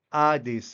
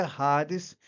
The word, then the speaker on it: Hades: Nessa sílaba, que faz ela ficar mais forte. Então, os irmãos sabem agora que não é Hades, mas é Hades o Hades aqui ele tem o som da partilha Hades, tá?